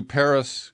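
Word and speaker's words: Perris: I've never been to Paris California it's spelled PE rris but I know too much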